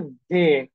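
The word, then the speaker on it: We: ওকে, ডাব্লিউ যে উচ্চারণ সেটা হয়ে যাচ্ছে ভে। হ্যাঁ, ভে, লিটারালি ভে, মানে ভি এর যে উচ্চারণ সেটার মতো হয়ে যাচ্ছে।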